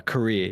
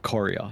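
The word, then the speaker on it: courier: I used to pronounce corer. I don't I just when I don't even as a native English speaker, I was just a bit stupid and and would do career instead of corer.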